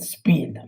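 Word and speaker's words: SPID: the other one is called sp id it's pronounced speed this is a typically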